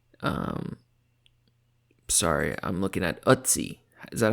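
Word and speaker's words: Ötzi: Um, sorry, I'm looking at Utsi. Is that how you say his name? Yeah, Utsi.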